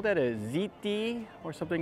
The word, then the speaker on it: hti: they call that a ziti or something like that it's called it's spelled HTI but they pronounce it ziti and I guess it